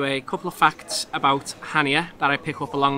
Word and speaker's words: Chania: town in greece called hania well that's how it's pronounced it actually looks a little bit more like chania china so if you